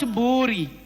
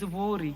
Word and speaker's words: Buri: It is not Buri. It is Buri.